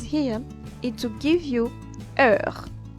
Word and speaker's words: heure: For instance, when you put it in a phrase here, it will give you heure. Them being put together will create one and only vowel.